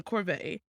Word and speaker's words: Corbett: But of course, that's when she meets Ian, played by John Corbett.